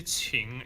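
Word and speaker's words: 请: Regarding the ching, be careful when you say ching. It's a lot like you're saying the cheese chi from cheese. But when you say chi, your tongue is not actually in touching the lower teeth.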